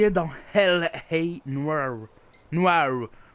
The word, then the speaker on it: Noire: Noire, faut le prononcer avec l'accent américain.